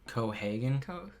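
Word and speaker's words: Keoghan: I don't know how to pronounce his last name. Cohagen.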